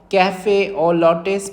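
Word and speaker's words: café au lait: इन the form of कैफे और लट pots in the skin okay कैफे और लेट इट is written like this कैफे और लेट बट इसको pronounce करते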